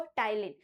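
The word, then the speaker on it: ptyalin: Spelling आप देखो पी से शुरू हो रही है। बट प्रोनाउंसिएशन क्या बोलते हैं इसको? टाइलीन।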